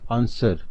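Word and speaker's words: answer: Number 1 आंसर। आंसर में W silent letter है।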